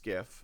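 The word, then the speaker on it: SCIF: supply chain all research Personnel working from a skiff um so this should be familiar to people in United States cuz this was in the news a lot uh sensitive compartmentalized information uh facility pronounced scaf see this visualization so so this yeah so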